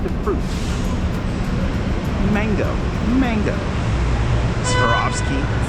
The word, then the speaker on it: Swarovski: Swarovski. Swarovski.